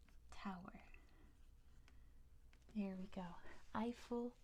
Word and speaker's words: Eiffel: Tower there we go eiel tow is how we say it in English in French it's eel not as exciting the